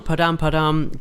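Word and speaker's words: Padam Padam: So that was Declan song, Padam. Padam by Kylie Manog.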